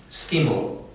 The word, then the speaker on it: Skimle: But uh if you want to pronounce it like Henry does, you should pronounce it skiml.